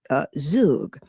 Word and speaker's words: zhug: So one that I found was, and I believe this is pronounced, it's spelled Zhug, and I believe that's pronounced Zug.